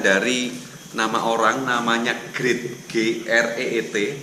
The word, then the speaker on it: Greet: G dan T ini singkatan dari nama orang, namanya Greet, G-R-E-E-T. Tapi kalau karena ini nama Belanda, pronounce-nya jadi berbeda. Pronounce-nya adalah Greet.